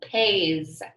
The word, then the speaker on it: pays: Our S is spelled right, but it sounds like our Z, pays.